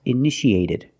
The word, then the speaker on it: initiated: In the past, initiated. The second T is between vowels, so we pronounce it like a fast D.